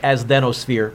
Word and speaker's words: asthenosphere: It almost looks like asthenosphere, but it's not pronounced as then. It's asthenosphere.